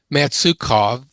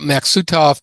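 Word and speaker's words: Maksutov: I keep wanting to pronounce this matsukov even though I spelled it correctly here. So I may slip back to doing that until I stop thinking about it. The Maxutov telescope is exactly the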